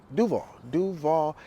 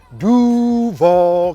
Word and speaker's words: Duval: Duval County. I'm gonna start with that. Just, you know, that's the way we pronounce it here. It's not Duval, it's Duval.